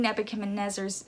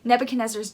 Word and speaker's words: Nebuchadnezzar: this they hear this situation they hear king nebuchadnezzar's oh i said his name wrong nebuchadnezzar's demands and immediately they're defeated by it immediately